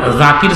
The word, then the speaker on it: জাকির: জাকির, জাল নরম উচ্চারণ করতে হতো, আমরা জাকির বলি, হুজুরা বোঝে না, জাকির। জাকির জালের পরে আলিফ আছে, আমরা টান দিয়ে বলে জাকির। ওরা টানও দেয় না, হুজুরা বোঝে না, উচ্চারণ করতে জানে না, বলে জাকির। অথচ তো জাকির শব্দ, জাকির ভুল, জাকির সহি।